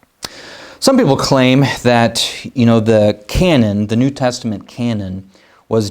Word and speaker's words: canon: Sometimes you might hear the term the New Testament canon, not the gun, shooting a cannonball, but it's spelled a bit differently, but it's pronounced the same, canon.